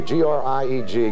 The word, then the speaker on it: Grieg: G-R-I-E-G. Grieg is usually the pronunciation, but you know it.